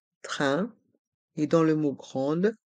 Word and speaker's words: train: train à grande vitesse dans le mot train les lettres A i n font le son 1 train et dans le mot